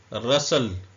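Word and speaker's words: rustle: T silent है आन रसल टी भी साइलेंट है ई भी साइलेंट है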